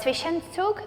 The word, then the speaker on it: Zwischenzug: g4 Zwischenzug, that's how you say it?